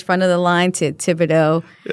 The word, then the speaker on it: Thibodeaux: Tibido is a Cinjun Louisiana family name.